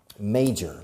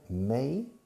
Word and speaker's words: major: Now, major, la pronunciación, major, se escribe major, pero se pronuncia may, como el mes de mayo en inglés, major.